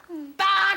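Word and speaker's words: 딱: Tak hana. Yes, we you'll hear tak in many different situations. Tak and usually they don't just SAY TAK, IT'S TAK.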